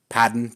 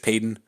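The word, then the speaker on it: Paton: General manag George P padon George Peyton I think it's Peyton but it's spelled padon either way I don't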